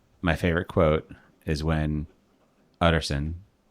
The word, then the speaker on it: Utterson: My favorite quote is when Utterson, or Addison, as it's pronounced in the audiobook, says, "If you shall be Mr.